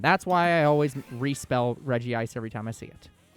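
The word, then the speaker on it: Regice: the Reggies in it, where they specifically pronounce it Reggie Ice, and then they made an app to specifically tell people that that was wrong, and it was like, no, that's stupid.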